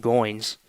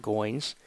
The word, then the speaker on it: Goins: to be number 24 kayin gos go I believe is how it is pronounced not gos two outs here's the